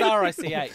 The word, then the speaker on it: Rich: Yeah, I mean, it's R-I-C-H, so you're probably safe in saying Rich. I thought there was there's no syllable on the end of it.